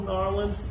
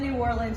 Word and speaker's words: New Orleans: You said it right the first time. Damn it. You said New Orleans, you nailed it.